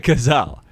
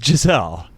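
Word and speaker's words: Gisele Bündchen: bundchen i think it's i think it's pronounced just like the animal no it's not gazelle bundchen it's not it's not gazelle it's giselle is there any other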